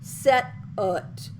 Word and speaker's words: stwt: The whole word, written STWT, is pronounced set-ut, set-ut.